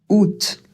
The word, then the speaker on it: août: Non, vous n'avez pas mal entendu. On dit bien, on ne prononce pas le a. Ou ça fait ou l'accent absolument rien à la prononciation. Et le t à la fin, là aussi c'est une exception. Il va falloir le prononcer alors que normalement en français, on a tendance à ne pas prononcer les consonnes à la fin d'un mot.